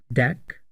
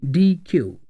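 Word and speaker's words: deque: version of Q is called DQ which is pronounced as deck or DQ it is a collection of homogenous data items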